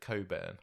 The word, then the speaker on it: Cockburn: isn't you think he's one of those people who pronounce it Coburn yeah definitely I don't know if going call yourself cockburn are you it's that